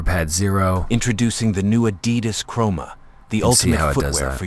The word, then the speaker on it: Adidas: on per syllable so there's three syllables in Adidas Adas so what I want